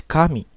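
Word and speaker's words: 神: and the last word is Kami Kami has two syllables the first syllable is C the second syllable is me and now let's see in the graphics in Kami God so in the first syllable it has a high pitch and in the second syllable has a low pitch meanwhile in Kami here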